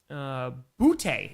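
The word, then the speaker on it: Boutte: Butte is how you pronounce his name.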